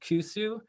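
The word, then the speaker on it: 古酒: So the aged Awamori is called kusu. It's confusing because it's kind of spelled like koshu, but in Awamori dialect, it's pronounced kusu. And so the kusu traditionally is served in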